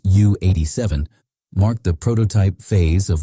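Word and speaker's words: Ju 87: The early Junker's J87A, pronounced U87, marked the prototype phase of what would become Germany's most famous ground attack aircraft.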